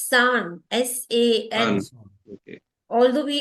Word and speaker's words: さん: Not Chan, it's San, S-A-N.